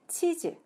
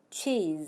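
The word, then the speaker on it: cheese: 그럼 어떻게 발음 하나요 ch 는 취 하고 소리가 나요 앞에서 설명 드렸던 이 중점 cha 소리네요 그리고 e 하고 장모음 e 에 소리가 나구요 그래서 이름 절로 앞부분을 조금 더 크고 강하게 소리내서 치하고 발음 하셔야 되요 같이 한번 발음의 보자구요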